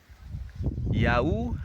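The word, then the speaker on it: yaourt: why in a word it take the year sound like in U like in yogurt so you get the year sound so let's read the word again good yahu has two syllables and how do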